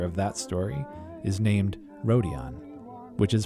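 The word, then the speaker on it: Rodion: the main character of that story is named rhodion which is pronounced hredien by native speakers and as we saw we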